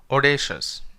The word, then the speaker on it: audacious: Here au means it doesn't pronounce like ow, it pronounces like o, audacious, right?